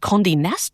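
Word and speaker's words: Condé Nast: And you're currently managing editor of News Corp Australia's Prestige and Condi NASA titles.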